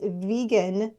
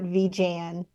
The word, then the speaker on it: vegan: explanation of the way the word should be pronounced it's vegan not V Jan my I I I think you know like